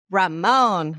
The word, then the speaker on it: Ramon: Like Raymond mentioned, you're going to hear from him sorry, I don't know why I said Raymond. It's Ramon, my bad.